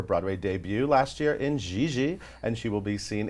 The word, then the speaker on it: Gigi: GIGI.